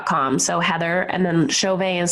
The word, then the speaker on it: Chauvin: at my name com so Heather and then Chauvet is spelled CH a u VI n got commas